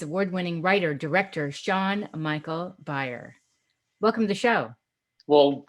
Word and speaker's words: Beyer: So What you could say is it's pronounced like Breyer's ice cream, but it's Beyer. Right, because everybody wants to call it like Bayer aspirin.